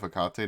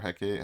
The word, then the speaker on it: Hecate: If you know what Ring of Hecate does, or Hecate, however you want to pronounce it, if you know what that does, it's basically the same.